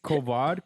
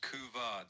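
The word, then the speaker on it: couvade: Is it Kovad? Kov syndrome. Say it. It's pronounced kuvad syndrome.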